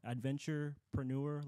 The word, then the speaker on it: Adventurepreneur: Adventurepreneur, like entrepreneur.